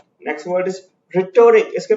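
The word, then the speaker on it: rhetoric: Next word is रिटोरिक. इसके pronunciation पे ध्यान दीजिएगा.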